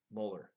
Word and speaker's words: Mueller: gonna have the Mueller molar good I said it right I think in my head I was saying Mueller for the whole time then I read a story about him where he corrected someone's pronunciation so Muller has the